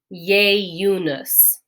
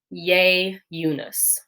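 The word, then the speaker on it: ieiunus: our pronunciation lesson um when the letter i is at the beginning of a word and it's before another vowel it's going to be pronounced with a ya sound kind of like our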